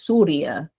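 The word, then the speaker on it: سوريا: place yeah Syria um I know in Arabic it's pronounced as Surya but I guess you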